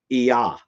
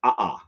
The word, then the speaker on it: Iya: Iya. Iya is the moon, is the sometimes pronounced Aa. Is the word for moon.